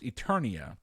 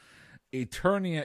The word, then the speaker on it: Eternia: it I will give you the points it's pronounced Eternia but yes this is pronounce incorrectly at least I got it correct thank God Eternia is your correct answer and we're gonna move